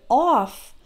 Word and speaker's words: off: And then in the word off, the FF is pronounced like F, just right off.